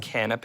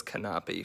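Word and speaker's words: canapé: snack plates appetizer plates canape did you know it's pronounced canape i thought it was canopy for the longest time but it's kind of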